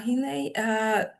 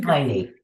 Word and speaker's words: Heine: As I was saying, Dr. Mara Hine, hopefully I pronounce it okay. Heine. It's Heine. Oh, Heine, okay.